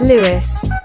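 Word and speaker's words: Lewes: back that goes off ads which apparently is pronounced Lewis because apparently some Journeys skip the station of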